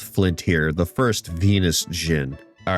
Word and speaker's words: Djinn: I had always thought that the D in Jinn was a letter that you would pronounce. I can't have been the only one to do that, right? Accidentally call them Djinn.